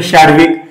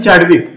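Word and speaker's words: Chadwick: इथ म्हटल शाडविक बघा शडविक आणि चॅडविक जर तुम्ही मराठीनुसार उच्चार केलात तर त्या स्पेलिंगचा उच्चार होतो चॅडविक पण इंग्रज लोक म्हणतात शडविक खरं स्पेलिंग अस आहे बघा इंग्लिश मध्ये सी एच ए डी डब्ल आय के मग हे जे आहे चॅडविक म्हणायचं नाही याला शडविक म्हणा बरोबर आहे पण तुम्हाला जर स्पेलिंग नुसार जायच असेल तर चॅडविक म्हणू शकता पर्याय दोन्ही आले तर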